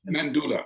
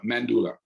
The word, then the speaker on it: Mendoula: And you've launched a website called, and I may say this wrong, Mandula. How do you pronounce that? Mandula. Mandula. Yeah, Mandula. it's like a doula for men.